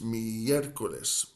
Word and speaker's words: miércoles: So miércoles has the accent at the very start of that second syllable with the E, the first E. Hoy es miércoles, 4 sílabas, miércoles.